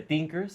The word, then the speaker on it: Teenkers: Eh, pues ahora sí que muy emocionado de formar parte de Tinkers. Sí, sí, lo pronuncié bien.